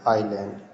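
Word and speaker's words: island: क्या पढ़ेंगे गोस्ट यहां आई एस एल ए एडी है इसमें एस साइलेंट क्या पढ़ेंगे आईलैंड तो कहने का मतलब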